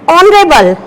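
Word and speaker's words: honourable: यहां हम इसको बोलते हैं आर, यहां पर एच जो है वो साइलेंट रहता है, तो यहां हम इसको बोलते हैं आर। इसको बोलते हैं ऑनरेबल और इसको बोलते हैं ऑनेस्ट। तो यहाँ पर हम एच को प्रोनाउंस नहीं करेंगे, यहाँ पर हम एच को प्रोनाउंस करते हैं लेकिन यहाँ नहीं करते।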